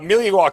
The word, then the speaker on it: Milwaukee: Look, uh, Millie Walk as is pronounced as Alangquin for the good land.